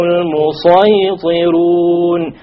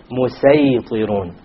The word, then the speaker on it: الْمُصَيْطِرُونَ: It is better to pronounce it as a sad.